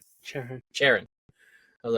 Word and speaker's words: Charon: I like Alex's theory that it's can you pronounce it again for me? Karen? Sure. Sharon.